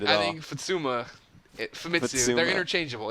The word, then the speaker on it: Famitsu: For a listener out there, tell them what the Fatsuma is all about. I'm not sure. It sounds like you're saying an Italian word or something. No, Fatsuma. I'm saying it right. Famitsu.